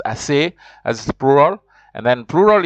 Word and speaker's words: ces: Then you have the CES, which is pronounced assez, as plural.